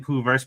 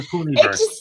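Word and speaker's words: Poohniverse: It's the Poohney-verse. You have to say it right. That's why I keep saying Pooh-verse, but it is the Poohney-verse.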